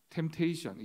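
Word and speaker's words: temptation: 템테이션, 영어 공부할 때 이 P가 묵음이라고 굉장히 많이 강조를 했잖아요.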